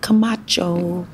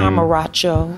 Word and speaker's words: Comarcho: -Comarcho. Yes, that's correct. Not Camacho. I'm sure. What's the worst? Somebody's like butchered your name. Comarcho.